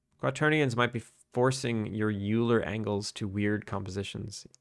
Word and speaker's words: Euler: Isn't it pronounced Euler? Yes, it is pronounced Euler, but I always say Euler.